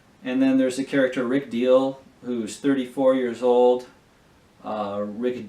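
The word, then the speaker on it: Diehl: And then there's the character Rick Deal, who's 34 years old. Rick Deal, like D-I-E-H-L, and that's how it's spelled.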